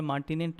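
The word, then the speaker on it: martinet: मार्टिनेट इसको प्रोनाउंस करते हैं।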